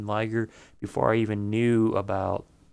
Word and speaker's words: Liger: It's Liger, but a lot of people pronounce it Ligger. I'm like, how do you get Ligger? The I makes the I say I. That and it's very damn close to saying tiger.